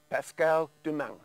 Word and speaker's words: Pascale Doumeng: I'm sitting here with local artist Pascale Doumeng.